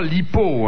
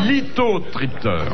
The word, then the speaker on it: lithotripteur: c'est pas lipo, hein. Pardon, j'ai mal prononcé. C'est litho. C'est pour casser les lithiases. Exactement. C'est les ultrasons, on les trouve dans le rein. Dans le rein. Des calculs. Mais oui, mais si vous dites lipo... Mais prononcez correctement, mon chéri. C'est lithotripteur.